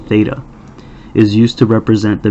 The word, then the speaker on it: theta: be theta and let's see the way it's pronounced I know we've talked about this in the past is like th ETA theta is used to represent the measure of an